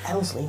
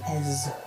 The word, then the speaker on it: Esley: Elsley, no, Esley.